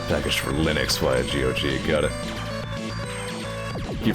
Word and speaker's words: Linux: the phone with somebody first time i pronounced it linox out loud it was like you mean linux like i mean i guess